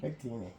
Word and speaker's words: Victini: So today, I was lucky enough to pick up the new, I always mispronounce this one, Victini. Victini.